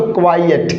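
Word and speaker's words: quiet: इसका उच्चारण होगा साथियों क्वाइयट।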